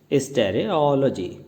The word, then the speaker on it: stereology: इसकी प्रोनाउंसिएशन है स्टेरियोलॉजी।